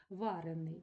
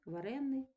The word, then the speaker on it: варений: учений - це дієприкметник і з наголосом на суфіксі учений - це прикметник варений дієприкметник варенний прикметник Далі ви бачите теж